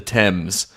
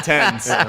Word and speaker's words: Thames: It is very funny to say to mention people being south of the Thames.